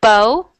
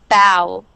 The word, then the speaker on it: bow: Yep, so the first one is bow, and the second is bow.